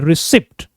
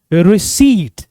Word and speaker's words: receipt: इसको लोग commonly miss pronounce कर देते हैं रिसिप्ट, बट the correct pronunciation is रिसीट. P silent होता है, तो इट is pronounced as रिसीट.